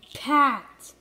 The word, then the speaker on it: Pat: Pat, which rhymes with at.